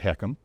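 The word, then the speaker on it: HECM: letters H E C and we pronounce it heekkum and then there's proprietary.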